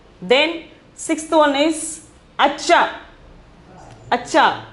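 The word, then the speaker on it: अच्छा: are so beautiful then sixth one is acha acha pronunciation is acha meaning is better or good better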